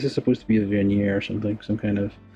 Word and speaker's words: vernier: Or is that like, well, directional thruster, which is a vernier. Vernier. It is French. It sounds French. It looks French.